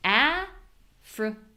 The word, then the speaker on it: African: I guess I made a mistake here because this is actually a 3-syllable word and it's in the 2-syllable words. Whoops. But she asked, where is the schwa? So we have the strong syllable here. So that means the other two are schwa. This won't always happen. Not every syllable is always schwa if it's unstressed, but in this case it is.